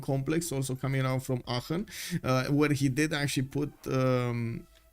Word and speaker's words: Aachen: I'm not sure if it's a Shen or is it Aachen, because you know, German pronunciation and stuff. Germany looks so strong. Yes it does. Yes it does. One hit wonder for sure. Yeah. Second one was perfect. Okay, it's Aachen.